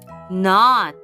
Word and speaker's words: knot: read words with diagraphs k n pronounced as n q pronounced asq and n g pronounced as n come spell and read with me not k n o t let's spell the word